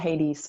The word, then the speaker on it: Hades: In English, it's pronounced Hades for anybody who wants to do a thorough checkup. Yeah, Hades, Pluto.